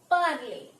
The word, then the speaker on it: parler: This will be pronounced as parler in French, and you can see here it is ending in ER and it means to speak.